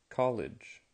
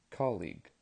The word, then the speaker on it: colleague: class today first pronunciation College college un that's colleague colleague collega now we have mountain